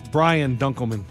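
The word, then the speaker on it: Brian Dunkleman: Ryan dunan incorrect lunch Ryan it's rhymes with Ryan it's Brian dunman Ryan dck had you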